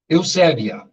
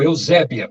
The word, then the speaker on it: Eusébia: Eusébia, ou Eusébia, como se diz, numa pronúncia mais abrasileirada.